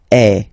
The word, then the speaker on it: es: Okay, and for tu, then you've got this combination of letters. Okay, but then basically the sound you will pronounce or you will produce is est. Okay, tu es.